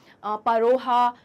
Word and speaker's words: Pharaoh: English में तो फेरोह ही कहा जाता है, फेरोह, ठीक है, लेकिन उसके अलावा इसे परोहा, फरोहा, तो इस तरीके के अलग अलग प्रोनाउंसिएशन से जाना जाता है।